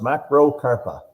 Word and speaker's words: macrocarpa: Mark says it's pronounced macrocarpa.